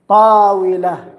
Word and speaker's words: طاولة: This is طاولة, table. So the pronunciation is on طا. That's the correct one.